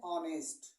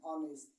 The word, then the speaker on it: honest: इसको हम पढ़ते हैं ऑनेस्ट। क्या पढ़ते हैं? ऑनेस्ट। इसका उच्चारण जब ऑनेस्ट होता है तो जब आ गया है तो किसका प्रयोग करेंगे?